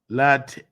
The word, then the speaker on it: Latavia: T-A-Y. Latavia.